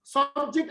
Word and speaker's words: subject: school system okay so subject as a noun is stressed on the first syllable subject subjects so the